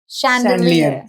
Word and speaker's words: Chandelier: शैंडलियर। Yes, spelling थोड़ी सी typical है, CH से शुरू होता है। CHAND। मैं भी कंफ्यूज हुई। LIER। Chandelier.